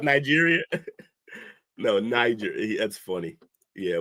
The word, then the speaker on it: Niger: And Jake, it's pronounced Niger. Niagara. Like Nigeria.